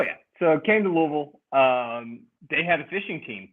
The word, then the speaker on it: Louisville: Because some people say Louisville or Louisville. No. It's Louisville. I say pretend you got a titty in your mouth, and that's how you say it.